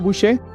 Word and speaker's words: Boucher: Helen, pronuncio bien tu apellido, Bouchet.